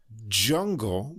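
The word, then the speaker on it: DJungle: So the first one, I believe, is pronounced Jungle, but that's capital D, capital J, Ungle. So like DJ Uncle.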